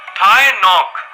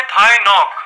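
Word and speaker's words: Thái Ngọc: जो कभी नहीं सोता थाय नॉक जी हां जी साइलेंट है साल 1976 में एक 34 साल का इंसान जिसका नाम है थाई नॉक उनको बहुत तेज बुखार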